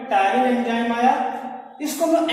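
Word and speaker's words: ptyalin: टायरिन को इंग्लिश में T silent होता है, ध्यान है, टायरिन टी इसमें जो है साइलेंट होता है।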